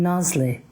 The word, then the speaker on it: Nazli: Um, and I I pause here for a moment because I have a very dear friend who pronounces my name Nasi, which is as it ought to be ought to be in quotation marks.